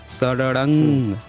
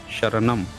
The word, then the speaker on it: शरणं: सब हुँ, लोग देख लीजिए, ये बुद्धंग शरणंग, द के ऊपर जो बिंदु लगी है, इसका उच्चारण होता है बुद्धंग, अंग, हुँ, शरणंग। लेकिन ये पूरे अपनी सीरीज में इसका उच्चारण किए हैं बुद्धम शरणम, यानी कि बुद्धा का ब्राह्मणीकरण भी हुआ है।